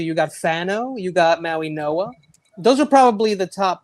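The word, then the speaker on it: Mauigoa: Well, it's Francis Maui Noah. It's Francis Maui Noah. Noah. Okay. But I don't know why it's spelled the way it is. I have no idea, but it's apparently I've heard it's Maui Noah.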